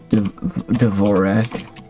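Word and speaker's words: Dvořák: How to pronounce Dvorak?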